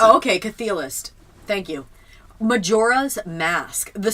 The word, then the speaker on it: Chthe'ilist: Chthe'ilist is how you pronounce it. Oh, okay, Chthe'ilist.